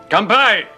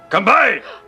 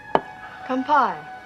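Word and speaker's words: 乾杯: Kanpai! What? It's a Japanese toast. You have to say it like that. Oh. Kanpai!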